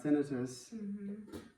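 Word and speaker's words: tinnitus: And he's going to have tenitus, which is how you say it, by the way.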